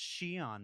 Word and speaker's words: Xi'an: And if your instinct was to stop the YouTube video and go immediately to comments and say it's pronounced Shion, Mark, get a better hobby.